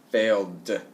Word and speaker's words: failed: Or the voiced sound at the for the last letter, you do d sound, failed, okay?